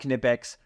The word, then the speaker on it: Knipex: I'm a big believer okay knipex yes it's pronounced knipex pliers these are adjustable pliers of two different